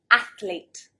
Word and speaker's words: athlete: very interested in it athlete so there should be two syllables athlete athlete many native speakers will actually say athlete athlete adding another syllable so this is a